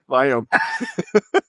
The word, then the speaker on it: Viome: life and I said who cares I can pronounce it. Charles is going to actually say it in the right way. It's Viome with a V. Victor Viome.